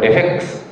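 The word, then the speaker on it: RefEx: と思いますえっとこれレックスと読みますリファレンスエクスプレッションデータセット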